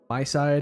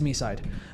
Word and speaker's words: MiSide: like by my side like that's that's how I thought it could possibly be but it is me side.